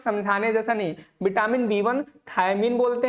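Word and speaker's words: thiamine: पता होना चाहिए भाई थियामिन होता है थियामिन आप थाया मिन पढ़ो मत इसको इसको थियामिन पढ़ो थियामिन पढ़ो गलत पढ़ो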